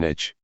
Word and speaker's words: niche: Smartphone vlog, how to choose a niche. If you're doing this to grow your following, then you will need to choose a niche, or niche, as some people pronounce it.